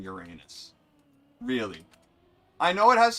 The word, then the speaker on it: Uranus: Yeah, it's Uranus. That's how it's scientifically pronounced.